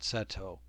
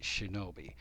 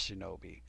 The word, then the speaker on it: 竊盗: we're using the word seto but you need to know it's actually going to be pronounced shinobi and that's why i have it on big letters on the screen both will be pronounced shinobi which it understandably could